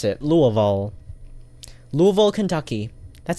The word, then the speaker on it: Louisville: you pronounce this um Louisville I guess Louisville yeah Louisville okay locals don't call it Louis or even Louie it's actually Lua louville Louisville and it's